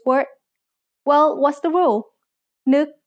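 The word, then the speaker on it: นก: Nuk has an initial low class consonant and a final stop that makes it a dead syllable, plus a short vowel that makes it a high tone.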